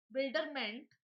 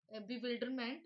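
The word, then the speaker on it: bewilderment: बिल्डरमेंट का मीन्स क्या होता है, sorry for incorrect pronunciation. Build यहाँ पर आता है बिविल्डरमेंट, बिविल्डरमेंट आ रहा है ये वर्ड।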